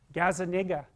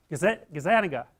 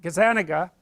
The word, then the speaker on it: Gazzaniga: Gazzaniga. That's wrong. Gazzaniga.